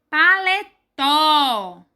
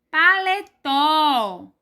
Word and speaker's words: paletó: Paletó. Paletó. Paletó. Em paletó, a sílaba mais forte é o tó.